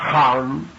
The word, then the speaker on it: Ham: Ham se escribe con las letras H-A-M. Sah se escribe con las letras S-A-H. La H suena siempre como J.